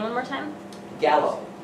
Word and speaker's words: Gallo: name one more time Gallo Robert Gallo just like the wine all right so this